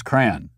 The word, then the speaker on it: Koran: only language that's violence is matt trying to pronounce kran there are lots of comments about my pronunciation of koran once again i am discriminated against for my